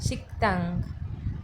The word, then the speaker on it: 식당: तो रेस्टोरेंट को कोरियन में कहेंगे शिक्तांग शिक्तांग शिक्तांग शिक्तांग रेस्टोरेंट। बिकॉज क के बाद नीचे पाछी में क के बाद अगर द आ रहा हो तो द प्रोनाउंस लाइक त तो हम उसे कहेंगे शिक्तांग ओके शिक्तांग शिक्तांग शिक्तांग